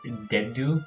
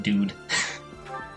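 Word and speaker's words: Dedue: I'm looking at the name again, and I realize it's probably pronounced Dedu, or something like that. But my mind just swapped the second D and the U, and pronounced it Dude.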